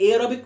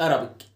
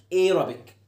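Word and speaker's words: Arabic: ايين كائن فضائي ايك الماده العربيه اسمها ايربك مش ارابيك ايربك زي كلمه كلمه كلمه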